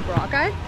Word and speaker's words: Boracay: island, because we're on Boracay Island, we've heard other people call it that, but I guess that might be wrong, and it's actually Boracay.